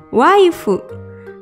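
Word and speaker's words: ワイフ: Istri dalam bahasa Inggris adalah wife. Dalam pelafalan bahasa Jepang jadi waifu.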